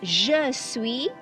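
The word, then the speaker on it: je suis: the s is silent the s at the end is silent okay next you have two a two a again like ju sui two a the s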